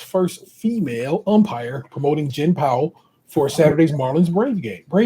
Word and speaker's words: Pawol: I don't know if I'm pronouncing her name correctly, but a woman named Jen Powell, Pawol, will make history this weekend as the first